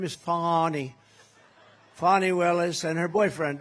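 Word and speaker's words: Fani: It's pronounced Fonnie. F A N I. That's Fanny. But she likes it.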